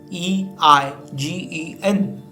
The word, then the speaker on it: eigen: get started what is this word with letters e i g e n it is pronounced as eigen have you ever wondered about